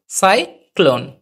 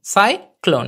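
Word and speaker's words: cyclone: হলো তারপর হচ্ছে এন ন হলো শেষের ই উচ্চারণ হয় না তাহলে কি দাঁড়ালো উচ্চারণটা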